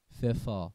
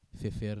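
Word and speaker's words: Pfeffer: فلیخت ففا. ببینید ففر نمیگیم ما، ففا. فلگا. میبینید این آ میخونیم دیگه آخرش. آر آخر رو تلفظ نمی کنیم.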